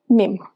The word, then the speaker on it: mesmo: You're shocked by the fact that I pronounced mesmo as mem.